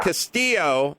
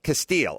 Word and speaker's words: Castile: oh yeah yeah yeah so Castillo are Casteel is it Casteel how do you say it Casteel okay sorry I swear I heard it differently Casteel is black but